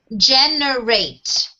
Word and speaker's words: generate: Generate. So how many syllables do we have on generate? Three syllables, yes. So where do we focus on the stress pattern? G-E. G-E, very good.